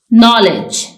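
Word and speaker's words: knowledge: इसमें L silent है नॉलेज इसमें के साइलेंट है वच इसमें टी ट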